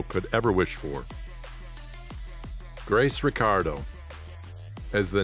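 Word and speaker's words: Ricciardo: this also explains why the surname Ricardo of Italian descent is pronounced by grace and her family as the Australian Ricardo instead of the Italian richardo Reyes Vasquez decastro the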